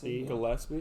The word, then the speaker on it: Gillespie: Gillespie.